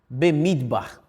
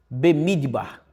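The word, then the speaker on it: במדבר: Você quer saber como se pronuncia números em Deuteronômio? Em hebraico? Bemidbar. Bemidbar.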